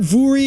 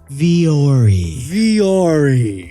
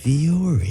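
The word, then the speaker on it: Vuori: Yeah, it's not Vuri, it's not Vowry, it's actually Viore. Viore.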